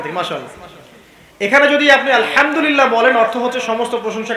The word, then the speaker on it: আলহামদুলিল্লাহ: আছে বড় হায়ে হুত্তি এটাকে বলে বড় হা উচ্চারণ কোথা থেকে করতে হয় মাঝখান থেকে মাশাল্লাহ এখানে যদি আপনি আলহামদুলিল্লাহ বলেন অর্থ হচ্ছে সমস্ত প্রশংসা কার জন্যে আল্লাহর জন্য রব্বিল আলামিন তিনি জগৎসমূহের প্রতিপালক যদি বলেন আলহামদুলিল্লাহ বড় হা এর জায়গায় ছোট হাওয়াস হুতির জায়গায়